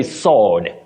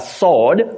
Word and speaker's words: sword: w o r d you say sword a sword for the weapon better okay hey that's an interest that's a surprise honestly yes sword I think we've all been you know pronouncing it wrong I didn't know that